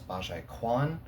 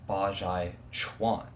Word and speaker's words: Bajiquan: I know I was mispronouncing it in my last video known as Bajiquan. I'm probably still going to call it Bajiquan in this video, but it is Bajiquan.